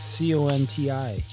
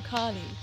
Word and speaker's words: Conti: a t in there Tom Conte it's c-o-n-t-i Tom Conti okay you want me to what do you want me to do with the tea Siri you want me to not pronounce it he has a team in there for a reason I didn't know that